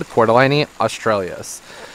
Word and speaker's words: Cordyline australis: So, that's how I double check whether or not I'm pronouncing things right. And as they said, Cordyline Australis.